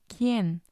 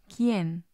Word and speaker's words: quién: Or we also have the QUI combination, as in quién, quién. And then we have the GUE combination, as in guerra, guerra. Or the GUI combination, as in águila, águila. When you have these combinations, the U doesn't make a sound.